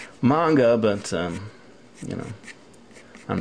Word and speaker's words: manga: a sound and that's why it really is pronounced manga but um you know I'm not going to